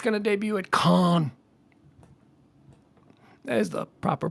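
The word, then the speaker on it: Cannes: out and apparently it's going to debut at Khan that is the proper pronunciation Film Festival uh what is going 80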